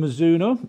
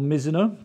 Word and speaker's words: Mizuno: with it this one's from mizuno or mizuno depending on your preference of how you like to pronounce it let's go and talk